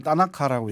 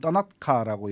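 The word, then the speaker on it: thanaka: 같습니다 그게 이제 그 영어식 발음 또는 한국식 발음을 따나카라고 얘기하고 현지원은 떠나카라고 얘기를 하는데 따라카라고 하는데 여기에 백단향이에요 샌들우드 백단향인데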